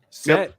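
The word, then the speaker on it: Cett: Anyway, set. That's the way to say it though. that that's it's it's spelled ce in the book but it's uh audiobook pronounces it set which I'm guessing that's I'm guessing because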